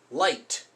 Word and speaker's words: light: good it's just I so if you see these in a word you got to remember that it's not there's no G sound there's no a sound it's just I that's the only sound it's gonna make a long I sound for example light you know this isn't liquid it's light this is just one of those weird rules in English IgH makes eye light or fight again when two people